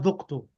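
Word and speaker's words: ذُقْتُ: أنا زكت No, dhamma. The dal should have a dhamma. زكت Ana dhuktu.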